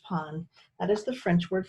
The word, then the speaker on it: pain: at him for a moment then he smiled not pain it's pronounced pon and as the French word for bread he